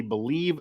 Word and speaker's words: Bleav: Twitter and that is b-l-e-a-v by the way but it is pronounced believe also everywhere they have